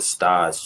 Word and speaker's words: stage: they call it stage it's spelled like stage but you know French pronunciation is they call it stage you come in and